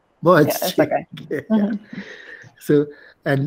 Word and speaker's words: Boğaziçi: I'm sorry, I can't pronounce it properly. Boğaziçi. Boğaziçi.